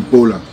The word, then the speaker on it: Bola: The way you pronounce Bola is going to be different. You see, you call him Bola. But in Nigerian, it's called Bola. But that doesn't change the name. Right. It just changes the pronunciation.